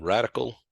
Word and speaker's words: RADICL: He's a senior partner now in a new company called Radical Work, LLC.